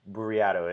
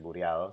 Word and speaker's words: Bureado: Bureado, so Burriado. It's difficult to pronounce in English, but search my name. It's there on the stream. In Spanish is Burriado, so it kind of rolls off the tongue.